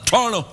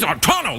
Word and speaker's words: Toronto: No, I don't have time for T's. Toronto. They just run it. They just run it on through like that with no T's. Yeah, they just Toronto, just like that.